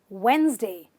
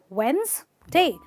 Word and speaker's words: Wednesday: supposed to be said this word is simply said in two syllables wednesday wednesday wednesday so you can say